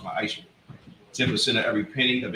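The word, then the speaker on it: מעשר: It means 10th in Hebrew and is pronounced ma'asher.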